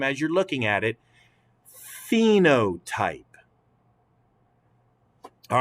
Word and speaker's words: phenotype: and say it together phenotype the ph in this word is pronounced as an f the ph is pronounced like an f so say it one more time as you're looking at it phenotype all right so what